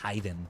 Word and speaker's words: Khaiden: Yes, it's like my name has to be pronounced hiden when we say like that.